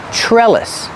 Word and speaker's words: trellis: TR and trellis is pronounced like a CH like chicken plus the r sure trellis this is a trellis